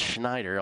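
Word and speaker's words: Shnaider: form uh Dian Schneider it's pronounced Schneider although it's spelled schneer uh she's a slight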